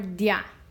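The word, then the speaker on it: día: On this word, dia, I need to decide if I want dia or dia. I want to break them apart. I want to hear dia, so I'm going to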